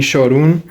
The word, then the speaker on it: Çorum: and we are here in Çorum which is how they say it in Turkish look we have all